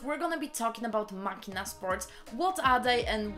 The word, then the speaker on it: Machina: It's machina. Machina. Kinda sounds Japanese if I say it quick.